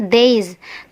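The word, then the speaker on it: these: yang tulisannya seperti ini jangan sampai dibaca this teman-teman yang benar adalah Days kecuali kalau digabung dengan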